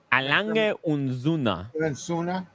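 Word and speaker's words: A. Lange & Söhne: Am I pronouncing that right? Alang unzuna.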